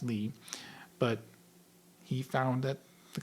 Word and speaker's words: Lie: Eric Lee it's pronounced Lee but he found that the companies were lying and his last name is spelled the same as the word lie.